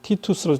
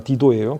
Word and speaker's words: 디도: 로마의 장군, 유명한 장군 티투스 장군이 있죠. 그 사람 티투스입니다. 디도예요. 그 우리 성경식 발음대로 한다면 디도는 헬라인이었습니다.